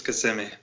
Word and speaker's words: Kissimmee: is it so you're in Orlando is it kissing me or Kissimmee just to me this is Kissimmee it's a lot of weird pronunciation sound here I still haven't gotten all